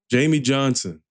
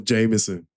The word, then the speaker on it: Jamey Johnson: Jamey Johnson. I thought it was Jamison. I mispronounced it at the beginning.